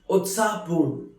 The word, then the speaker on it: उत्साहपूर्ण: Utsahpurn, which is pronounced as Utsahpurn, which means very excited, very lively.